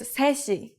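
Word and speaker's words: 세 시: 3 o'clock is 3시. 3시. The native Korean number 3 is 셋, but we shorten it to 세 when we put it before a counter like 시.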